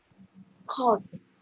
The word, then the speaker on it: caught: Caught. We caught the train at 6 o'clock in the morning. Okay, so remember all the sounds here, all the words here are pronounced all.